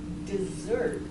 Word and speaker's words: dessert: This is dessert. And how do you pronounce this one?